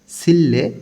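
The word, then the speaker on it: 실내: অংশে ভাগ করা আছে প্রথম অংশে লেখা আছে সিল্লে ঘরের ভিতরে বা রুমের ভিতরে রিউলের পরে নিউন আছে এজন্য দুইটাই লই ল উচ্চারণ হবে সিল মানে রুম বা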